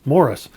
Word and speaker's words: Maurice: Here in Canada, as well as in England, where Maurice is from, that's how you pronounce it. Same as you'd pronounce Morris, Morris.